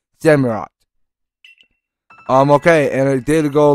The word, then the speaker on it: Samurott: Well, it's more like Samurai, but less than you say it, because it's name pronounced Samurott.